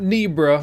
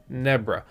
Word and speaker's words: Nebra: questions okay so nebra they told me i was saying it wrong it's not nebra you know i'm a little american right it's nebra they have an indoor